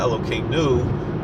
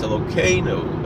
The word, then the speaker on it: Elokeinu: If you look where the accent mark is on the syllable, and that does often change the meaning of the words. It's important. A lot of people, most things in Hebrew, the accent goes in the last syllable, but certain things, certain words, Elokeinu, it's not Elokeinu, it's Elokeinu.